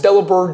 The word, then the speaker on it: Delibird: Yeah, because it's delivered, but with bird, so delivered.